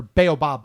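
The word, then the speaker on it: baobab: Um or baobob tree, I think is how it's pronounced.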